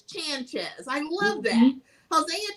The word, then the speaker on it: Chanchez: Because I always want to say Sanchez, but it's Chanchez. I love that. Hosea Chanchez.